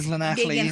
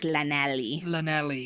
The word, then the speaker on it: Llanelli: You say most English people pronounce it like Llanelli.